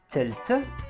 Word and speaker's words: تلت: So for example, the word تلت, it's actually ثلاثة, but we said it a bit differently because it is attached to مئة.